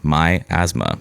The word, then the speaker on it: Miasma: and Death at Camp My Asma. Um the asthma that belongs to me. My Asthma. That's how I remembered how to say it.